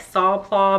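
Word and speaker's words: Sac Plat: It's actually pronounced like Sac-Plot, but it's the Sac-Plot. I'm not French, so I don't pretend to speak French, but it is the Sac-Plot bag.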